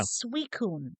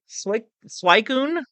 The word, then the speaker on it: Suicune: Suicune. Not, how did he say it? I want to say Purple Cliff said like Suicune or Sweet Swikune.